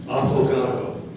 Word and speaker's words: affogato: Affogato. Affogato. Are there any alternate pronunciations?